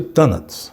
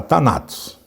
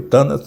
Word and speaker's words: Thanatos: E Thanatos, eu pronuncio Thanatos, embora alguns gostem de falar Thanatos, mas eu prefiro Thanatos do grego.